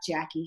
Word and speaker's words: Jacci: course and I have Jackie here with me and we are going to talk Jacky's how we pronounce it right yep yes I got